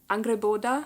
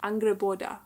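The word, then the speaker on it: Angrboda: this is about and I've learned how to pronounce her name now angreboda angreboda I'm very proud as uh I'm Norris by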